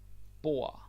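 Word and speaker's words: bord: from before very nice bo b table b b b and yes the D is silent do not pronounce the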